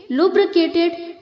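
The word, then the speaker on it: lubricate: है लूजेंस loosening लुब्रिकेट लुब्रिकेटेड लुब्रिकेटेड यहां पर जो बच्चों बी आर के आगे आई है उसे हमें ई की तरह प्रोनाउंस करना है ओके लुब्रिकेट नहीं बोलना है नो लुब्रिकेट लुब्रिकेट लुब्रिकेट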